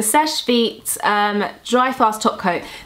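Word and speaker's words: Seche Vite: how do you say is it sesh beet I always I say SES I used to say SES vet for some reason but the sesh vet um dry fast top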